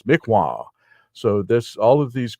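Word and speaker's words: Mi'kmaq: the lower 48 as the mik mac but the actual pronunciation is mikwa so this all of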